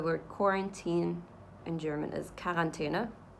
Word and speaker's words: Quarantäne: So the word quarantine in German is Quarantäne. It's spelled almost exactly the same.